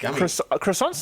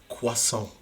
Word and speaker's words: croissant: It's like croissants and snails is basically everything. Ah, what are you doing? Do you just pronounce it publicly for the world to hear you pronounce it as croissant?